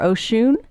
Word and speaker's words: Oshun: The internet has multiple ways of pronouncing her name. Do you say ocean or oshune?